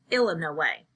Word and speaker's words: Illinois: He pronounced Illinois, Illa No Way, exactly the way everyone in Bybanks, Kentucky pronounced it.